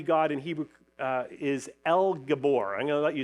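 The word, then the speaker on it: אל גבור: there's a good chance you guys guys can pronounce them but the words the word mighty God in Hebrew uh is El Gabor I'm going to let you say that with me El Gabor okay so the first part L that's just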